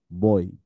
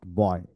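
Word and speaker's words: boy: তাহলে কি হইলো বই বই বই নট বয় আমরা এতদিন ভুল পড়েছি বয় আবার বই না বয় বয় বয় মানে বটাকে বেশি দিয়ে ই টাকে একটু কম বয় বয় পড়ো তো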